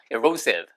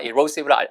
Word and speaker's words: erosive: erosive. 원래 동사는 erode인데 걔보다 erosion이 빈도가 높아서 제가 erosion과 erosive를 알려드린 거예요. 보세요. erosive. erosive가 아니고 erosive예요. erosive.